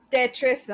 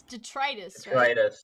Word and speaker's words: detritus: my god it's got tetris on it all right that might not be how you pronounce that it's detritus it is detritus hi guys hi all